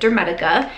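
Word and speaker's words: Dermatica: a shot so this is like i said dermetica is how it's pronounced it says healthy skin through science so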